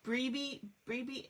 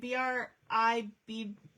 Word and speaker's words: Bribie: Brebe, I think that's how you say it. Bribie Island in Queensland.